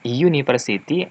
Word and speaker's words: university: Karena sound-nya itu konsonan, university, istilahnya itu kalau kita pronunciation-nya itu menggunakan huruf Y ya, university.